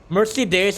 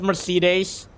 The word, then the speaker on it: Mercedes: just like got off like the pit Mercy days like it could be the name of a